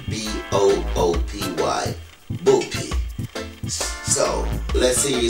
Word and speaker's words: Buppy: want to pronounce it the right way it's pronounced b-o-o-p-y booty so let's see you say boopy yeah